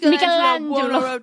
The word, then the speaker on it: Michelangelo: or she would say, "Sarah, you pronounce it wrong." Michelangelo. Yes, she was like, "You got to say it like that."